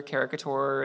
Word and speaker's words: Characouture: Yeah, and then you can find me basically everywhere under caricature. It's the H is silent, but I promise it's there.